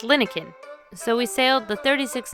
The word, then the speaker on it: Linekin: as it turns out it's not pronounced lion kin like we've been saying it's pronounced linin so we sailed the